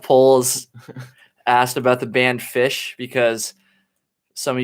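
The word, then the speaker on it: Phish: asked about the band fish because some of you might know the band fish that's p-h-i-s-h it's literally right in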